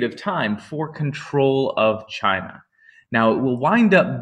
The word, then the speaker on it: Qin: Um, now the Qin are or sometimes pronounced more correctly the Chin.